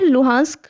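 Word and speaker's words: Luhansk: And other one इज लुहांस्क, इसे हम pronounce करते हैं लुहांस्क पीपल्स रिपब्लिक।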